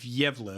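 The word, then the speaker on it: Gävle: goat so um in the Swedish town of yeva which is spelled g a vle e um they so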